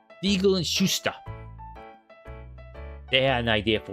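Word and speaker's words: Shuster: I didn't pronounce the t there. Siegel and Schuster.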